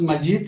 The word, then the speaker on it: Majid: placer estar aquí en mi nombre como suenas magic se escribe con jota en inglés aquí a veces la